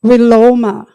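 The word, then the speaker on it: viloma: came across a word and that word is willoma I'll spell it for you v-i-l-o-m-a that's the Sanskrit word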